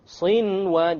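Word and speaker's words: صنوان: Likewise, Sinwan. No idgham. There's a noon sakin followed by a waw. Sinwan. Sinwan. You pronounce the noon.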